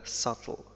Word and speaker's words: subtle: إذن في جميع الحالات التي ينطق فيها، التي لا ينطق فيها حرف أو صوت ب، هي عندما يأتي بعد م، like tomb، thumb، crumb، limb، وعندما يكون قبل حرف أو صوت ت، debt، doubt، subtle. إن كنتم تعرفون أي كلمات